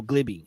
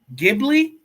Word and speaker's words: Ghibli: and I'm somebody who studio gliby if you know who studio gliby is Ghibli give Ghibli you can't even say it right Studio G you know